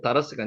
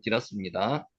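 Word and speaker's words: תִּירָס: 메색은 모스크바, 그리고 디라스, 요렇게 해가지고 오멜과 마곡과 마데와 여안과 두발과 메색과 디라스, 요 다라스가 아니고 디라스입니다.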